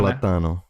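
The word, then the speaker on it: plátano: Platano.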